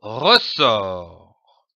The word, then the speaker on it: ressort: Le mot ressort est composé de deux syllabes ressort.